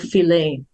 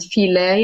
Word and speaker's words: Philae: This is the island of Philae. And the island of Philae, Shimaa may pronounce it. It was an island. Philae, Sometimes we say Phila in Arabic and Philae in English.